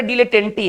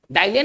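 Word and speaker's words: dilettante: तो चलिए इसके उच्चारण को थोड़ा सा देख लिया जाए, इसको पढ़ेंगे डीले, डाइले नहीं, डीले टेंटी।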